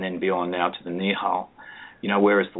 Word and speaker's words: Nihal: Nihal, N-I-H-A-L, yeah.